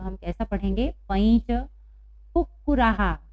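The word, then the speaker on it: कुक्कुराः: पैंच कुक्कुराहा। यहाँ पर भी विसर्ग के पहले आ की मात्रा है, इसलिए हम हा का उच्चारण कर रहे हैं।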